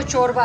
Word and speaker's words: चोरबा: अच्छा अच्छा ये शोरबा बना हुआ है जो कि असल में जो प्रोनाउंसिएशन है वो चोरबा है, इसे चोरबा है बट हम इसे शोरबा कहते हैं।